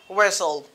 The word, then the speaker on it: whistle: When we have S-T-E-L in the spirit, so the letter T is not pronounced. We pronounce it as whistle, whistle.